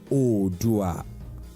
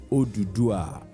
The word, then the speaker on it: Oduduwa: Oduduwa, which can equally be pronounced as Odua, Oduduwa, or Odua, is today a respected hero, warrior, leader, and father of the Yoruba race.